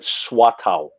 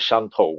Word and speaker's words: Shantou: In the old days, they used to call it Shuatao, which is the Okay. Teochew Yeah. pronunciation. Nowadays, they call it Shantou, which is sort of the Mandarin pronunciation.